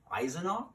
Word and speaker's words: Eisenach: was born in a little town called unpregnant mispronounced at eisenach I think that's how you say it and